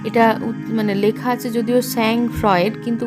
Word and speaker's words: sang-froid: এটা মানে লেখা আছে যদিও sang-froid, কিন্তু উচ্চারণ হয় sang-froid, ঠিক আছে।